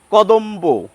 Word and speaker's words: কদম্ব: ব নয় বর্গীয় বই এই দেখুন কদম্ব ব এর উচ্চারণ করছি অম্বল ব এর উচ্চারণ